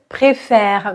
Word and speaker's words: préfère: E Ismaël préfère préfère vous entendez là la différence il y a et et préfère e accent aigu e accent grave manger à l'infinitif du